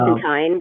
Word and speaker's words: Constantine: Well, the reason I wanted to ask you that question is because the 20th anniversary of Constantine, John Constantine, uh, Constantine rhymes with fine.